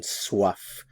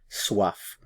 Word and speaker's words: soif: Notice the pronunciation, soif, soif.